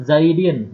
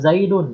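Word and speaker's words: زيدٍ: Nah, maka dibacanya Zaidin. Jadi bukan Zaidun ya. Marartu bi Zaidun. Tidak bisa dibacakan seperti itu.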